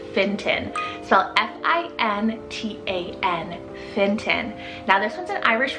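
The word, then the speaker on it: Fintan: list we have the name finton cell f-i-n-t-a-n finton now this one's an irish rooted name meaning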